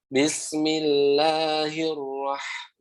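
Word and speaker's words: بسم الله الرحمن الرحيم: Jangan dinyasarin ke hidung ya. Jangan rahim. Nah gitu, jangan. Biasa. Him. Coba ulangi sekali lagi. Bismillahirrahmanirrahim.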